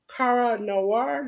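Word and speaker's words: Kara Noir: week okay our first Spotlight we had was Cara Noir that's how you pronounce it Jes that's right that was on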